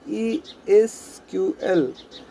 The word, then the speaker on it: SQL: done through SQL language SQL is pronounced as E is QL SQL isn't unsighted is